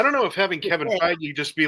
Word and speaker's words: Feige: I don't know if Kevin, how do you pronounce his name? Feige? Feige.